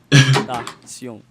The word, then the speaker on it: XXXTentacion: Yeah, Yo, dude, I almost think I be pronouncing that shit right. XXXTentacion.